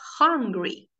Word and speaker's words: hungry: Y en este caso, la pronunciación es como si pronunciaras con una J, hungry, hungry, ¿ok? Y es como si fuese una A, hungry, hungry, hungry. La A tal cual, hungry.